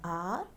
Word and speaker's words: hour: Before a word beginning with a silent h, as an hour, an honest man. Here h is silent.